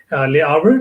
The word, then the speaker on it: Le Havre: I think it's, I don't know how to pronounce it, it's Le Havre.